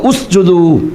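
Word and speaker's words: اسْجُدُوا: ജീമിന് ളം ആണ് അതുകൊണ്ട് ഹംസക്കും ളം ആകും അപ്പൊ ഉസ്ജുദു എന്നാണ് ഓതുക ഉസ്ജുദു എന്നാൽ ആ ഹംസ വസുദിന്റെ ഹംസയാണ് ഹംസയല്ല ചേർത്തി ഓതുമ്പോൾ ഉച്ചാരണമില്ലാത്ത ഹംസയാണ് ചേർത്തി ഓതുമ്പോൾ ഹംസ ഉച്ചരിക്കില്ല അതുകൊണ്ടാണ് അപ്പൊ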